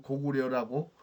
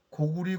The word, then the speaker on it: 고구리: 근데 우리가 왜 지금 고구려라고 고려라고 발음하는지 모르겠습니다. 사스상에서 고구리 고리라고 읽으라고 돼 있는데 왜 조선 총독부의 명을 따라서 지금도 고구려 고려라고 발음을 해야 합니까?